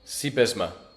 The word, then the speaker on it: Sybesma: Did I pronounce that right, by the way? You've told me multiple times. Sybesma, but it's okay. No. Let's get it right. It's super important. It's Sybesma, like the horse, Seabiscuit. Sybesma.